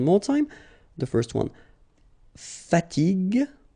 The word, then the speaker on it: fatigue: as we said here, you should pronounce it g, g. Okay, so you get the word fatigue, fatigue.